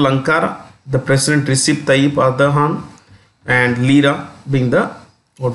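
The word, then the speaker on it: Erdoğan: The president is Recep Tayyip Erdogan, the G is silent, or pronounced with an H. The currency is lira. So you have capital Ankara, the president Recep Tayyip Erdogan, and lira being the, what we say, the currency.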